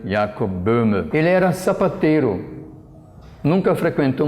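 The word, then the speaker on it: Jakob Böhme: falar sobre jacobina a cujo nome em alemão se pronuncia ea cubana quem era sapateiro nunca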